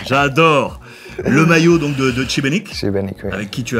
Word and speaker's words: Šibenik: Je prononce bien Šibenik.